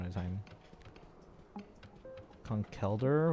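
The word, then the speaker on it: Conkeldurr: Conkelder with the emphasis on the last part. Conkelder with the emphasis on...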